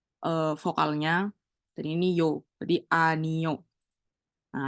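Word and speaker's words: 아니요: Kalau misalnya yang O itu berdiri sendiri, dia tuh bacanya akan baca vokalnya. Jadi ini cuma bacanya A. A, terus ini N, ini I, berarti Ani. Balik lagi, kalau bulat doang,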